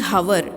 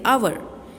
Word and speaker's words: hour: We are not saying hour, we are saying hour.